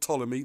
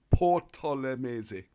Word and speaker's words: Ptolemy: It's not Ptolemy, the P is pronounced Ptolemese. It's a Greek name, and that's the Greek pronunciation.